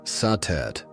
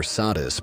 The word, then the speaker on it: Satet: Before the great names of Isis or Hatheror filled the temples of Egypt, there was Satet, pronounced Satet or Sadis by the Greeks.